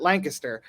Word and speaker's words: Lancaster: Philly and hery um is Lancaster which we pronounce it Lancaster um and it's where